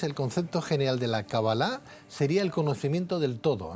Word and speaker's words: Kabbalah: lo pronuncio bien, doctor, ¿es cábala o cabalá? En realidad es Kabbalah, pero bueno, en el mundo hispanoamericano ya decimos permanentemente Kabbalah. Entiendo que el significado, entonces, el concepto general de la Kabbalah sería el conocimiento del todo, ¿no?